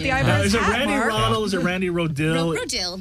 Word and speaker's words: Rodil: Rannie Rodil. Kind of like Rodildo, but Rodil.